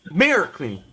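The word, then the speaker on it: Märklin: The second syllable is soft. So it's Marklin.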